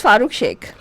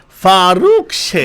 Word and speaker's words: Farooq Sheikh: Farooq Sheikh. There was one movie that came out. That guy's name I used to love. You know why? Why? It used to rhyme with my favorite drink, milkshake.